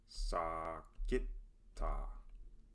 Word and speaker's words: sagitta: Important things to remember here are the correct A sound and G sound, but it is also an example of the accent rule that requires the emphasis to fall on the second to last syllable instead of the third to last in words with more than two syllables in which the second to last syllable has a short vowel followed by two consonants.